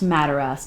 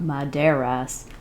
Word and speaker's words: Madaras: I think it's pronounced Madaras, not Maderas.